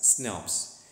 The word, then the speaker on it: snRNP: nuclear ribonucleoproteins or s enemies or we usually pronounce it as snobs and in the splicing mechanism there are different